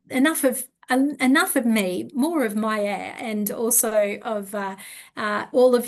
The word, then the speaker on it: Maie: No, my name is spelled M-A-I-E and it's Yes. pronounced Maie.